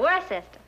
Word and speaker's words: Worcester: But it's spelled W-O-R-C-E-S-T-E-R, Worcester.